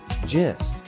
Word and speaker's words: gist: or main idea pronunciation pronouncing gist is simple gist with a soft G and a short I use in a sentence